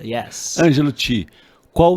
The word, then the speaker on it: Angelo Chee: Nossa última pergunta aqui, Ângelo Ti. Yes, tá correto Ângelo a pronúncia? Ti, yes. Ângelo Ti, qual o seu sonho grande hoje?